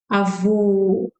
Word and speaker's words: avô: So remember that when men wear hat, remember the French closed sound. So close your mouth. Avô, vô. This is the O sound.